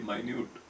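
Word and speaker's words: minute: ಮಿನಿಟ್ ಮೈನ್ ಎಮ್ ಐ ಎನ್ ಯು ಟಿ ಇ ಎಂಬ ಪದವನ್ನು ಒಂದು ಅರ್ಥದಲ್ಲಿ ಮಿನಿಟ್ ಎಂಬುದಾಗಿ ಮತ್ತು ಇನ್ನೊಂದು ಅರ್ಥದಲ್ಲಿ ಮೈನ್ಯೂಟ್ ಎಂಬುದಾಗಿ ಉಚ್ಚರಿಸಲಾಗುತ್ತದೆ.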